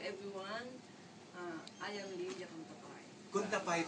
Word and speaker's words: Cuntapay: Kuntapay pala. Kuntapay. Kuntapay is how you say it.